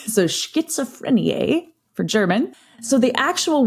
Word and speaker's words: Schizophrenie: But essentially, the German Z pronunciation sounds very T-like in English. But there's no T. Right. So Schizophreniae for German.